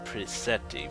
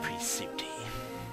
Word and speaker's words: Prisuti: I kept saying Prisetti for the whole XCOM Let's Play, but it's pronounced Prisuti.